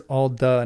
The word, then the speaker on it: Alda: The Quenion word is all duh not alth.